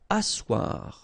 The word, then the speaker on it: asseoir: Asseoir, okay, remember you've got this beautiful but then phonetically doesn't exist. Asseoir, remember double S here, it's really strong s, really strong S, okay, so asseoir.